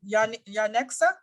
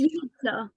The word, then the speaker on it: Unixa: Yanexa, help me. Yeah. Really? Close enough. Yeah, that was good. No, that's not how do you say it. It's Unixa.